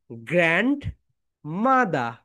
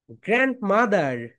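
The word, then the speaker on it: grandmother: সো দাদির ইংরেজি যেটা সেটা হচ্ছে বলো গ্র্যান্ড মাদা, গ্র্যান্ড মাদা।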